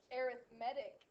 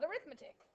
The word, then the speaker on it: arithmetic: We say arithmetic sequence. It's not arithmetic. It's an arithmetic sequence.